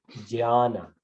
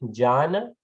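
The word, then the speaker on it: ज्ञान: So it's actually pronounced Jnana, Ja. But well, it's familiar. But the spelling is this. So right? The way we should pronounce actually Jnana.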